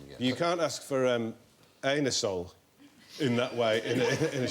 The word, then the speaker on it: Anusol: You can't ask for anusol in that way in a shop. You have to pronounce it anusol.